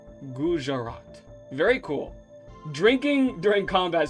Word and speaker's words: Gujarat: Gujarat. Okay, got it. I'm gonna be learning a lot, but also having a lot of fun too. Also in India, we don't silence the J. Okay, my bad. Gujarat.